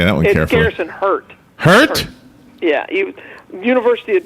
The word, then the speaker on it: Hart: that one careful Garrison hurt hurt yeah he University of Georgia uh product yeah he came out of University of Georgia h e a r t is pronounced hurt yeah okay um and